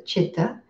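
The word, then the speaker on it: citta: cheetah it's c-i-t-t-a but the c is pronounced like a ch so it's pronounced as a chitta and um chitta means the heart psychologically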